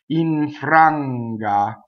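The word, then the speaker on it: infranga: Okay, so now we have our only assimilation of the aria, and it's the N that's going to assimilate into the F. So watch my bottom lip as I say this word. Iŋfranga.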